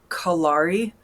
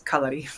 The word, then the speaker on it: kalari: It looks like kalari, but the correct pronunciation is kalari.